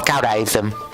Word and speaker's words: Caodaism: Yeah, Caodaism. I remember it called Caodaism. Yeah, it should be called Caodaism. So it sounded pretty close to Judaism, so I just messed it all up.